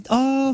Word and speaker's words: phenylephrine: Yeah, this is phenylephrine, phenylephrine, you're right, and you're right, Imogene.